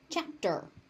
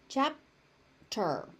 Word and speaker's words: chapter: Chapter. Chapter. The P is unaspirated chapter.